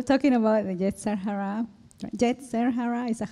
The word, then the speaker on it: Yetzer Hara: Yetzer Hara, is that how you say it? Yetzer Hara, yes.